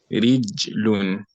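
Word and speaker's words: رِجْل: For a leg, you say rij, not raju. Rijlun.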